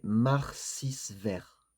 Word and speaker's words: Marcisvert: qu'effectivement, par rapport à la prononciation de son nom de famille, il y a plusieurs façons de prononcer, son nom de famille, mais que lui, la façon qu'il préférait, la plus douce, comme par hasard, hein, ça va bien avec le personnage, c'était Marcisvert.